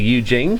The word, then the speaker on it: Yu Jing: We've got a combined army and the Eugene, is it pronounced? Yeah, Eugene.